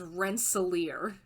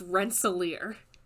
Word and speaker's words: Rensselaer: It doesn't matter, but Ben Kissel, please know, it is Rensselaer. It is pronounced Rensselaer. How is he saying it?